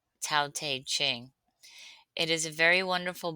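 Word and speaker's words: Tao Te Ching: pronounce taq ching.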